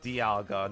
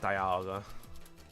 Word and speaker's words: Dialga: It's Dialga, not Dialga.